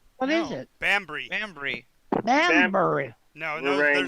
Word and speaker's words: Bambry: It's not Banbury? What is No. it? Bambry. Bambury. Banbury. No, We're writing there's no. down. It's two syllables still. Two syllables, Gene. Bambry.